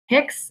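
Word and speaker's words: PICS: And their own brand, mostly what you'll see, there's a couple other ones, but Picks is the main one. That's just not P-I-C-S. It's pronounced Picks as a one word.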